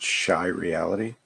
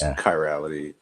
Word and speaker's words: chirality: anyway so I think his name is actually pronounced shy reality well it's Nate I just call him Nate that's his real name I know it's chirality and then I'm saying it's shy reality because it's funny ah because he's shy